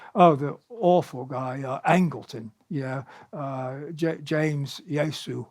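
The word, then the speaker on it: Jesus: I've got all these historical characters, Harold Wilson, Margaret Thatcher, Richard Nixon, the awful guy, Angleton, James Yosu, I call it the Spanish pronunciation, James Yosu Angleton, who was, terrible, head of counterintelligence, who was part of the Wilson plot.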